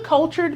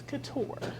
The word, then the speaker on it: couture: The amount of people that walk into our business and say, what's a cultured milkshake? What's a, like all the different ways that they could possibly pronounce the word, but it's couture.